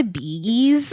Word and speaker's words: Bee Gees: the Bee Gees, it's pronounced the Bee Gees.